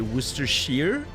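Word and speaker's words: Worcestershire: own but you know pronounced like shear so you would say worester shear dude why can't they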